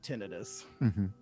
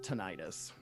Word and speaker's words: tinnitus: I think it's pronounced tinnitus, not tinnitus. Nope, it is actually pronounced tinnitus. It is incorrectly pronounced tinnitus.